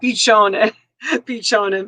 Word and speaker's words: piccione: Do you know, Dana, do you know what the word piccione means? Just say yes or no in the chat. Do you know what piccione means?